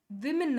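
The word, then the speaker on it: women: ಈ ತರ ಸ್ಪೆಲ್ಲಿಂಗ್ ಏನಾಗುತ್ತೆ ವಿಮೆನ್ ಆಗುತ್ತೆ ಸೋ ನೆಕ್ಸ್ಟ್ ಟೈಮ್ ನೀವು ಎಲ್ಲಿ ವುಮನ್ ಸ್ಪೆಲ್ಲಿಂಗ್ ನೋಡ್ತೀರಾ ಅದನ್ನ ವಿಮೆನ್ ಅಂತ ಕರಿಬೇಕು ದಟ್ ಇಸ್ ದ ಕರೆಕ್ಟ್ ಇದು ಸ್ಟೈಲ್ ಅಲ್ಲ ಅಥವಾ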